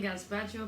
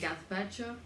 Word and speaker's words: gazpacho: H we are making gaspacho and yes I'm pronouncing it gaspacho because if you ever hear me say like gaspacho shoot me then kill me then okay cool